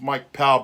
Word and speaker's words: Mike Pau: my doorstep cured ah I am Mike Poe and well it's actually pronounced Mike power by a lot of my friends they they all call me Mike power a lot of my